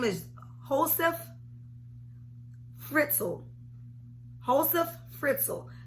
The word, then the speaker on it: Josef Fritzl: And his name is Josef Fritzl. Josef Fritzl. And the J is silent.